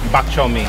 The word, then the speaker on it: bak chor mee: So can you pronounce it for me? Bak chor mee.